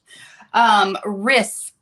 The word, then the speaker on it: Risberg: Risberg rhymes with Risberg. With Okay. miss. Riss rhymes with miss.